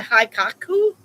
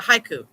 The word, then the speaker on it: haiku: A hiaku. Write me a haku. I need a haku. Write it. Write it now. Haku. A haiku. It's 585. A haiku. It's how you say it.